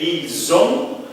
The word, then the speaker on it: ils ont: Aqui é ils ont, elles ont.